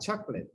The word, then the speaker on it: chocolate: Oh, remember, it's not chocolate. Chocolate. Do not pronounce it O, this O, chocolate. Chocolate. No, not chocolate, chocolate. Chocolate. Chocolate. No. Imagine this one is not there. Chocolate. Yeah, no, imagínate que no está la O ahí, chocolate.